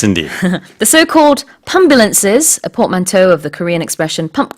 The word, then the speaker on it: portmanteau: Let's look at portmanteau. Yeah, portmanteau. Now that's an interesting word. The It is. spelling on that, P-O-R-T, port, that makes sense. Man, M-A-N. Toe, in this case, T-E-A-U. Portmanteau.